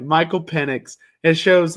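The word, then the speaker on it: Penix: where it has Michael Pennix in a um, you can say pennix. You don't have to go hard either. Pennix, is that how you pronounce it? Penex.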